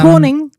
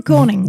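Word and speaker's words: König: a German scientist called Wilm Helm Cornig uh Corning is how you would say is how you say is it Corning oh I'm glad you speak German Corning Wilhelm Corning um demonstrated it could generate some uh voltage.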